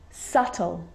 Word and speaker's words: subtle: crumb and the letter b is often silent when it's before the consonant t so think of these examples subtle subtotal depth depth so see in all of those examples my lips aren't closing and coming together to form the b sound i'm just pronouncing